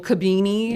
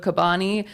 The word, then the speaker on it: Kabani: Like we went on one podcast and they said Kabini Yep. instead of Kabani.